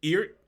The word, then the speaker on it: EART: This guitar, I've heard people call it Eart, you name it. I went to them recently just to make sure I wasn't butchering the name, and they claim that I should just pronounce it as letters, E-A-R-T. That's what they'd like to go by.